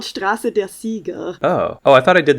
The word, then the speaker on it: Straße der Sieger: It's called Straße der Sieger. Oh, I thought I did the German wrong. I'm like, what? This seems like a simple pronunciation. Champions is English, so it's Straße der Sieger.